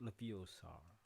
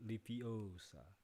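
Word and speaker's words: Leviosa: correctly spell that right not lupios are but lipiosa okay let's start another can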